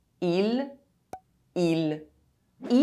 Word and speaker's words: île: Mistake #4 - Pronouncing final E E as the final letter of a word is silent. These two words are pronounced exactly the same. île island il he E can be preceded by a consonant.